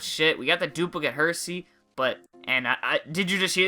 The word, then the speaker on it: Hersey: I said it right this time, Hersey. I have a hard time saying that with my accent. It just doesn't roll off the tongue as Hershey would.